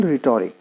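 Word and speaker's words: rhetoric: देखिए next word है से फॉर एग्जाम्पल रिटोरिक। तो ऐसे काफ़ी सारे वर्ड्स होते होंगे जिसके अंदर जो अल्फ़ाबेट्स हैं वो साइलेंट हैं। तो से फॉर एग्जाम्पल इस वर्ड के अंदर H जो है वो आपका साइलेंट है, ओके।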